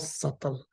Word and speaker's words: subtle: obvious this is called subtle the B is silent yeah it's not subtle but subtle I guess subtle okay so there are